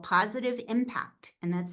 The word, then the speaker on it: Pawsitive: Also, I have a new Substack newsletter that is called Positive Impact, and that's spelled PAWSITIVE, Positive Impact.